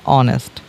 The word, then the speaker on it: honest: উচ্চারণ হওয়ার কথা ছিল হনেস্ট, কিন্তু উচ্চারণ হচ্ছে অনেস্ট।